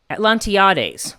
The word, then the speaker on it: Atlantiades: Atlantiades, that's the right way to say it, or hermaphroditis, fought back, denied the nymph her joy.